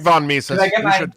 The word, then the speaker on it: Mises: It's Ludwig von Mises. You should say it right.